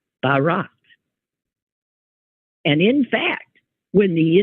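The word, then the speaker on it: Bharat: how to pronounce it it's Barat b h a a t Barat and in fact when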